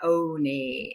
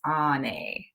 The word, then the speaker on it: Onae: me, my name is Onae. And, you know, kind of like when you go to the doctor, you know, and he says, say, ah, yeah, that's ah, Onae, not Onae. It's Onae.